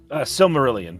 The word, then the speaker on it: Silmarillion: Is that how you pronounce that? Silmarillion, but yes.